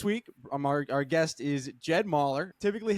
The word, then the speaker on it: Jed Moller: your current handicap so good question yeah so Jed mer great job on the pronunciation most people don't get that nailed it